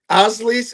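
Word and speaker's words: Osleys: Um, it's Osles, and she said that's not even a Spanish name.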